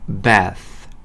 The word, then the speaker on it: bath: th는 이와 이 사이의 혀를 딱 넣고 바람을 하고 불어주시면 돼요. 어떻게요? bath, birth, death와 같이요.